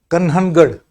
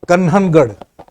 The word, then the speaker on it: Kanhangad: If I say, I don't know the actual name, but it is pronounced, I think, as Kanhangad in Kerala. Sir, can you pronounce that one more? K. Sudhakaran from Kanhangad, North Kerala.